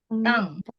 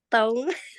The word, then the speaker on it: tongue: Tang. Tong. Tang. Tong. Ya. My tongue Ya. is burning. Bacanya tang ya.